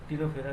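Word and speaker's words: Ctenophora: टिनोफेरा या चलिए टनोफेरा को देते हैं। देखते हैं टनोफेरा क्या है? सी इसमें साइलेंट है। टेनोफेरा ये समुद्री अखरोट या फंगत घर भी कहते हैं।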